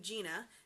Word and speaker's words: Gena: But that's the reason I'm telling you that is because Gina Beige, the name Gina, and it's spelled Gena, is the name of the founder's wife.